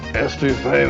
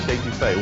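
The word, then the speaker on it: étouffée: I want some estouffee with crawdads. What Bubba's trying to say is crawfish etouffee, one of our most popular Cajun dishes.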